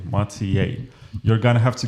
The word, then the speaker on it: Matej: So tell me, Matej, is that how you pronounce it? Yes, it's pretty good. Not Matej, Matej.